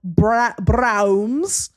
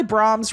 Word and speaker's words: Braum's: I like to call it Braum's.